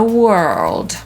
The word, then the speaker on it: world: Z kolei Amerykanie wypowiadają „świat” jako /wɜ:rld/ i słyszymy to czasami w zwiastunach filmowych, kiedy ten głęboki, męski głos mówi „in a world”, czyli „w świecie”, gdzie jedynym pożywieniem jest papier… No co?